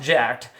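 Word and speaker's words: Jack3d: but it's you know it's pronounced jacked and spelled Jack 3D and then shortly thereafter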